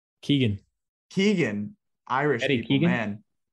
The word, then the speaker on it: Keoghan: How do you say his name? Keegan.